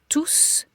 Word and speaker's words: tous: So, tous is pronounced tous when it means all of us. Tous. All of us, or all of them, or all of, and then a group of people that you are replacing.